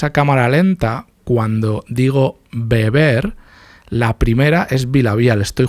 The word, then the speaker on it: beber: Beber es con B, las dos, y vivir es con V, las dos. Pero se pronuncian, la B y la V se pronuncian igual, es bilabial, beber, vivir.